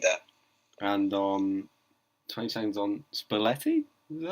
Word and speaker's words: Spalletti: And 20 seconds on Spalletti?